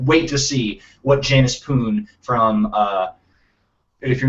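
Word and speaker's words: Poone: Wait, so her last name is Poon, P-O-O-N? P-O-O-N-E, I believe. Janice Poon. Pune? Yes, it's a bit odd, but The E is silent.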